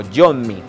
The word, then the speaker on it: Yommy: Es la definición de Yomi, porque no es Yomi, sino Yomi, con doble M.